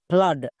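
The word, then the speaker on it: flood: একই রকম ভাবে এফ L double O ডি ফ্লাড এখানেও দেখো ডবল ও আছে এবং এর ঠিক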